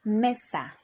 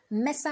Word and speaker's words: Mesa: we have Mesa now Mesa has two syllables which are me and sa also Mesa ends with a vowel which is a the a vowel and we have already established that any word that ends with a vowel the stress falls on the penultimate syllable and in this case